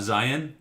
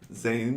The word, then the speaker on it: Zayn: It's not Zion? Zayn? Of One Direction fame?